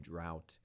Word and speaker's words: drought: segment if we explain drought d-r-o-u-g-h-t the o u g h t right is is horrible in English but in this in this word it's owl drought it's a dry period